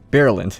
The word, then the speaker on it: Bireland: Bireland, there you go. I got the name wrong, yeah.